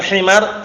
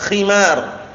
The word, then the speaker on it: khimar: ali wasar bacanya J Keliru bukan himar khimar khimar k paham ya karena khar lain nanti kalau khimar artinya apa keledai paham ya tapi kalau khimar